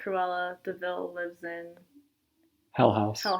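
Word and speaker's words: de Vil: It's devil, but it's pronounced Deville.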